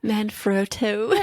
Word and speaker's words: Manfrotto: always will probably pronounce this incorrectly, but a Manfrotto, It's Oh, an yeah. Italian brand, very well known. I like how you said it. Manfrotto.